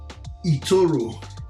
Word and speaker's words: eToro: big as well in europe um it's called etoro it people from aquarium in nigeria or calabar crusher but it's the same pronunciation so anytime i say this name i